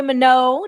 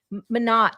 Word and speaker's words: Manat: And here we have Mano. Did I say your name right? Mano Manat. Okay. I I did Google it. In French, it was Mano. Yes, it is pronounced that way there.